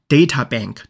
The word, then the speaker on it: databank: bank 这个单词很多同学比较熟悉它的意思可以指“银行” 但在这个地方指的是“储存库” 比如说我们经常说的数据库英文怎么说念作 databank /dætəbæŋk/或者可以读作 /ˈdeitəbæŋk/ 都可以的 /deitə/ 或是 /dætə/ 就指的是“数据”的意思这个单词要合在一起写但是下面一个血库或者是献血库可以分开写